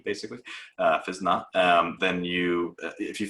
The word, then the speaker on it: Physna: or look at physnot it's spelled p h y s n a um so like physical dna without the d basically uh fizna um then you if